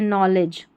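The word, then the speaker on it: knowledge: और इस नॉलेज में के साइलेंट है। जब भी के एन साथ में रहता है तो के साइलेंट रहता है।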